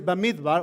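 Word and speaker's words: במדבר: in here right that the name of the book in hebrew is bamit bar or bamit bar and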